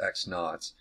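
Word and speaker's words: x₀: would say it would be just x minus x naught that's pronounced x naught this set of concepts the difference in our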